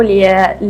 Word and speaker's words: Liat: Hello, Liat, right? That's how I pronounce it. Yes. Liat.